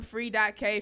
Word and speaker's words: Free.K: I'm Free.K. Free, but the K is silent.